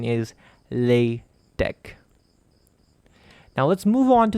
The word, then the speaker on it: LaTeX: the pronunciation of latex because of the letter X in the word latex you might be tempted to say it latex and I might have